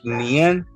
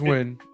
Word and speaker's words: Nguyen: Ain't that actually Nien? It's a Vietnamese name. No, it's Win.